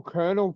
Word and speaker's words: colonel: right with the whole kernel thing you know you've got kernel as in military you've got colonelizing popcorn kernels that's all completely different but pronounced exactly the same for me the